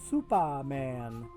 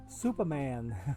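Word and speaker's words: S00p4M4n: another one if I if I take the numbers and turn them into letters uh this person's name would be pronounced Superman S 0 0 p 4 M 4 n Superman okay so that's another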